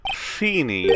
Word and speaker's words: Feeny: Note how Feeny rhymes with Genie. Oh! It also rhymes with weenie.